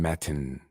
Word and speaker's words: Matin: mr ron matin and i say it that way because you have to pronounce the t's it's not ds ron matin all day he's